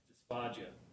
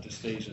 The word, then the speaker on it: dysphagia: percentage of patients had dysphagia and by the way it's dysphagia not dysphasia so we have to be careful how we pronounce that dysphagia dfia no